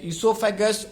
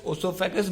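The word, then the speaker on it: oesophagus: इसका जो प्रोनाउंसिएशन है guys, ईसोफेगस, ओसोफेगस both are right.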